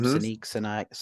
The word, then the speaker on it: Sinek: I think that's how you say his name, Sinek.